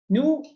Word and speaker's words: Nu: Nu is like when we pronounce it is almost like new, the word new.